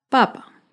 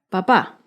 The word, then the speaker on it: papá: En este ejemplo, la primera palabra, papa, no tiene tilde y el acento está en la primera sílaba, papa. Con la segunda palabra, papá, tiene tilde, que indica que el acento está en la última sílaba, papá.